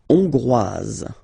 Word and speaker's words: Hongrois: La Hongrie, Hongrois, Hongroise. Okay? Hongrois, Grois, Hongroise. Okay, so here final S not pronounced for the masculine form, and then you pronounce it here for the feminine form.